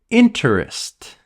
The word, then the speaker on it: interest: Interest. Interest. Almost no one says interest. We say interest. Interest. We cut the middle sound again.